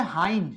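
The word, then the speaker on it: hind: এটার উচ্চারণ হবে হাইন্ড। এটার উচ্চারণ হবে হাইন্ড। কিছু মনে করেন না। আমি কোন এক ক্লাসে এটা হিন্ড উচ্চারণ করেছিলাম।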